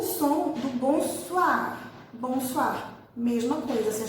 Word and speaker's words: bonsoir: Mas OI em francês, essa junção de vogais O com I, faz som de UA, UA. Então toda vez que vocês verem OI juntinhos dentro de uma palavra, vocês vão pronunciar UA. Ok? Então, por isso é bonsoir, bonsoir, certo?